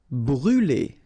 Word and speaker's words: brûler: Brûler. All right, so remember to write this circumflex on the top of U, but then you don't pronounce it, so phonetically it doesn't exist, and it's brûler.